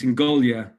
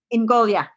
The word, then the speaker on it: Ingogia: too Tom I AP it's Sicilian so it's in goolia in goolia got it okay okay